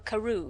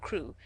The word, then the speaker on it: Crewe: Madame Pascal pronounced it as if it were Karu instead of crew.